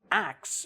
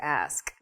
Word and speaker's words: ask: But when you say ax, it's just totally wrong. Well, it's reversing the consonants in the word ask. Right. It's not faster. You're not making it quicker. You're not slurring or making, putting it into one little like fluid blob. It's just, you just switch the two syllables.